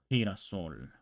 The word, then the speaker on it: girasol: It's spelled with a G. It'll be like gesto. Or with an I, it's like girasol, which is a flower. Girasol would be like girasol, something like that. It will be more guttural.